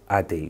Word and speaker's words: Ade: actually been pronounced wrong his actual name is ade which is a d e so he introduced a